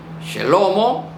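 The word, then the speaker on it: שלמה: llevá llegó Judá very Esta es la forma como se pronuncia el nombre del personaje chelomo chelomo Salomón Salomón viejová very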